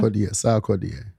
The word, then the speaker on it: Sarkodie: Pronounce that for me one more time. Sarkodie.